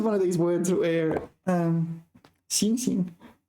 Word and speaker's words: 行刑: 一直到行刑的那一天 Yeah, this is one of these words where 行刑 where both syllables are pronounced the same. 行刑 The first 行 is carry out.